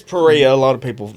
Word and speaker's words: Perea: Today we have Perea on the It's Pereia.